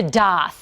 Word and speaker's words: daith: the Year we're talking about it's called the doth and yes that's how piercing artists say it's pronounced some people who suffer from chronic migraines